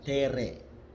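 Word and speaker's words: terrae: Terae, dibaca tere.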